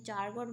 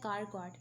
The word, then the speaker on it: Charcot: इसको ना मैं चारकॉट पढ़ती हूँ फॉर द स्पेलिंग, क्योंकि इसका जो स्पेलिंग है ना वो है CHARCOT, तो इसको याद रखने के लिए मैं इसको एज प्रोनाउंसिएशन इसकी चारकॉट पढ़ती हूँ, लेकिन ये है कारकॉट, ठीक है।